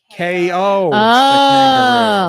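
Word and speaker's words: Kao: connection in my head he wears boxing gloves and he punches people so you pronounce his name k.o sort of like arby's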